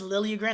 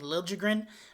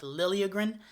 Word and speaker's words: Liljegren: Now, that is Liljegren. I know Randy Hahn's saying Liljegren, but he was a Leaf for a long time, and that's kind of how they pronounce it.